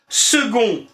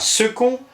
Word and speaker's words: second: Le C se prononce quelquefois comme un G, ainsi on prononce secret et non pas secret, second et non pas second, glaude et non pas claude, quoique dans l'écriture on doit absolument retenir le C.